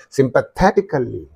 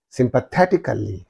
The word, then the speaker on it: sympathetically: therefore what is the syllables preceding the suffix means only this one that's why say sympathetically sympathetically so you have to